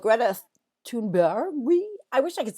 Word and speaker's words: Thunberg: And then Business Insider had an article that called Greta Thunberg. I wish I could say it right the way she said it. Greta Thunberg or Thunberry, almost like a berry.